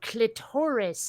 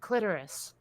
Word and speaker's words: clitoris: the wall is when people say clitoris instead of clitoris oh yeah okay oh i hate that so much i don't know where that former pronunciation comes from with the ex you know with the accent on the second to label oh there is this